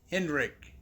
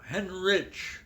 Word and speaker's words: Hendrick: Yeah, I'm sitting here with my friend Fred Hendrick. Did I say it right? No, Henrich.